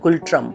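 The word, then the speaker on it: ngultrum: that they use इज गुल ट्रम over here N is silent Burma citizens of Burma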